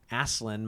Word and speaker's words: Aslan: also here having Lewis say, I pronounce it Aslan myself.